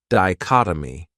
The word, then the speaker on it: dichotomy: This word has 4 syllables, and the stress is on that second syllable, dichotomy. That third syllable has that schwa, that sound, di-chot-o-my.